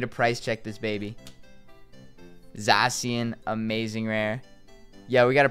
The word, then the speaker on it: Zacian: Pronounced Zacian.